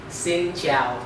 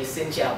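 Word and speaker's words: Xin chào: vietnamese to be easy if a person say xin zhiao to you you just simply say xinjiao back and that's it i'm gonna repeat the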